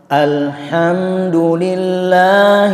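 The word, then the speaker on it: الحمد لله: Mari kita ulang membaca alhamdulillah irobbilalamin perjelas Al bukan Allah Alhamdulillah seperti itu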